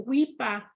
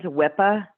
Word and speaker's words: WIPA: SSDI over to SSI they're asking about the weepa you can spell that or we can share the resource I'm gonna I'm just gonna go ahead and give it um to you imagine Enterprises runs wipa w-i-p-a and a and an 800 number for